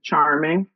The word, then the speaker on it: Charmeng: star designs by Charming my name is spelled c h a r m e n g same pronunciation Charming just a e instead of an I um so on Instagram